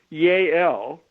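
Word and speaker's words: Yael: they had her colleague yay l spelled with a y a e l and her colleague upon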